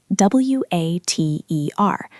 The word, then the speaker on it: water: In a dictionary, it looks like water. But Mark, how do you say it naturally? Water. Water. Did you hear that? He didn't say water. He said water. It's a soft tap on the roof of the mouth.